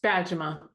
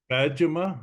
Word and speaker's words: Bajema: so I will let you help us to pronounce it that's okay it's badima badima all right that's easy enough I mean come